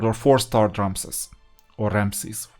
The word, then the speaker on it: Ramses: or 4-star Ramses or Ramses. I learned them as Ramses, by the way, because of the Eastern and Mid-European pronunciation.